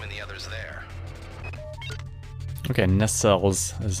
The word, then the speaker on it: nacelles: Okay, nacelles is how it's pronounced.